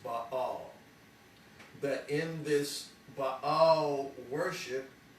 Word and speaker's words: Baal: Many people would pronounce Baal Baal, but it's pronounced Baal.